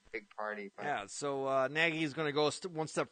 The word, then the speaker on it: Nagy: It's an idea that Nagy, is that how you say it? Yeah, Matt Nagy.